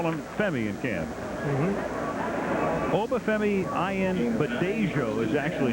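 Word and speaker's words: Obafemi Ayanbadejo: And that's caught for a first down as Obafemi Ayenbadeyo. Did you repeat that? Well, 49. You know what they call him? They call him Femi in camp. Obafemi Ayenbadeyo is actually how it's pronounced officially.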